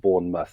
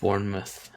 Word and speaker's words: Bournemouth: your pronunciation of Bournemouth so it's not pronounced like mouth it's like Bournemouth Bournemouth bourou perfect now it